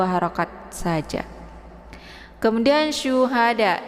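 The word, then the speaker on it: شهداء: 2 harakat saja kemudian Syuhada ini syu ya sya Jadi bukan Sa bukan juga asa ya bukan Sin tapi sya sya yang sifat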